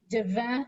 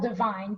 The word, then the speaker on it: Divine: Mine are more expensive kind of than the average professional clarinet, I think, Buffet, this is the divin. I don't know if anyone speaks French. It's spelled divine, but someone corrected me and said it's pronounced divin.